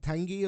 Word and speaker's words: Tanguy: His name's it's spelt like Tanguy, but Tanguy or Ndombele.